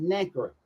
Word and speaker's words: nacre: Nacre, N-A-C-R-E, nacre. It's pronounced nacre.